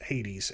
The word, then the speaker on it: Hades: And the New Testament Greek counterpart to the Hebrew Sheol is the Greek Hades, which we pronounce Hades as English speakers. So Sheol, Sheol and Hades, these are references to the place of the dead.